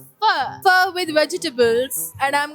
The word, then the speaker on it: pho: It's not pho, it's pho. Pho with vegetables and I'm gonna show it to you. Pho.